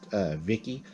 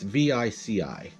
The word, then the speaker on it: Vici: home south of, and I believe it's pronounced Vicky, when a growl made him stop. It's Vici.